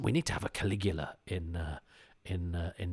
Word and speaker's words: Caligula: Although I was first introduced to Caligula in um Judge Dread where there was Judge Caligula and they told essentially the same story. Although as a youth I pronounced it Caligala.